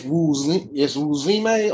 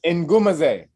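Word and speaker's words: Ngumezi: It's Wuzime or something like, because it's spelled No. N-G. It's Ngumaze. It's African.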